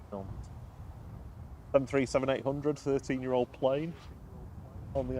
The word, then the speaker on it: Nantes: So just coming over the threshold here, we have Ryanair flight 3544 coming in from Nantes in France. Sorry, I should pronounce the S's. Nantes.